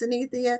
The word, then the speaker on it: Synithia: welcome to the show and your name is pronounced CIA correct that's correct thank you so much for